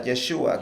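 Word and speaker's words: ישוע: La palabra Jesús en hebreo se pronuncia Yeshua, Yeshua, que ok.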